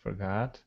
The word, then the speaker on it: forgot: Good, forgot. I like that. I like her pronunciation. There's two O's, and she pronounces them both very differently, but they're both correct. Forgot is exactly how I pronounce it, forgot.